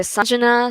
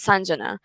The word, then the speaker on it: Sanjana: seems like better because like people say sajna sanjana like i've heard so many people say so many thing i mean the current pronunciation is sanjana but i'm fine with